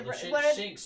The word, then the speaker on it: Shinx: Yeah, Shinx.